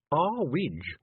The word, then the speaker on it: Earwig: it's too high Mrs IRG said Tiffany it's pronounced R wi said Mrs ewig coldly sorry Mrs ewig